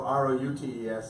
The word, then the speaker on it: routes: You know, some people say routes, but there's 3 pronunciations in America. The ROOTS homonym is more common in some parts of the country, but then we say Route 1.